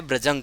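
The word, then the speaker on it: bruising: तो ब्रजंग की स्पेलिंग देख लीजिए एक बार, आपके टेक्स्ट बुक में भी देखे रखिए, BRUI या SING, प्रोनाउंसिएशन ऐसे ही करना है, ब्रजंग करना है।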